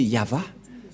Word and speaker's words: Yahvah: de droite à gauche mais la vrai lecture de ce terme c'est yava je vais vous apprendre